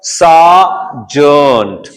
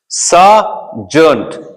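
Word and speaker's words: sergeant: पढ़ोगे आप सा जंट सा जंट जो फौज के अंदर हवलदार होता है ना उसे इंग्लिश में सार्जेंट कहा जाता है उसकी स्पेलिंग यह है तो स्पेलिंग्स भी समझ में आनी चाहिए ना सा जंट आर का साउंड नहीं हो रहा यहां पर आर का साउंड हम उच्चारित नहीं करेंगे आर का जब लेटर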